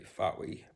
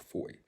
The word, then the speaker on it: Fowey: I know it looks like you would say Fowey, but it's called Foy. Down in Kerno land, like Kerno.